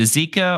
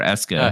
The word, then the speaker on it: Esika: Is it Esika or Eska? How do you say that? I say Esika. I hear Esika too. Esika.